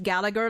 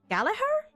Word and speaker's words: Gallagher: The English one they call him just Gallagher. Like they pronounce the G. Um how if you like take the G away it would just be G. Galahar.